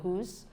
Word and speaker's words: whose: are not pronounced and also some words that have W in them but the W is not pronounced so we have whose so in this we